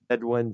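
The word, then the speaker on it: Bedouin: bed o I forgot it's spelled b e d o u i n and the bedwin sound Clash they have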